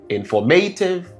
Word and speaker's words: informative: You can look at pronouncing the word f o r m form. So, the stress is there.